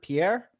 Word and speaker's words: Pierre: Like how do you pronounce it? Pierre? Yes, you got it. Pierre.